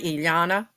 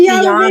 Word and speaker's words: Iyanla: Iana. Oh, that's it. That was her. That's Iyanla Iyanla.